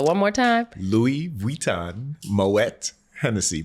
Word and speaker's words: Moët: Louis Vuitton Moët Hennessy. Pronounce the T in Moet, please.